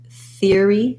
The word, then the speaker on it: theory: three syllables here but most americans will say it like theory theory where they'll just um make an ear diphthong then they'll add the th ear fear theory theory so the challenge here